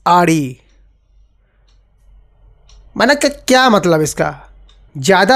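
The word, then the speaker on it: Audi: मैंने एक बार ओडी बोल दिया। ओडी नहीं इट्स आरडी।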